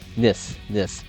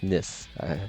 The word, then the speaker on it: Nice: Is it pronounced Nice? Assassin is undefeated. Nis. Thank you. So it's pronounced Nis.